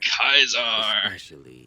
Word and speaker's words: Caesar: Kaiser's Legion taught here kaisar any I forgot they pronounce it like this and what's funny is only these guys pronounce it like that too go with a oh